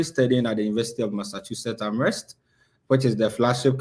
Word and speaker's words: Massachusetts: Somebody said you're studying at Master Jesus. It's Massachusetts. Yeah. That's how I pronounce it.